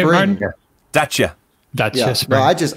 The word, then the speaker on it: Dacia: Dacia.